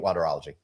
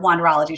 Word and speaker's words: Wanderology: It's wander, as if you're wandering around, which is an art, right? And ology, which is a science.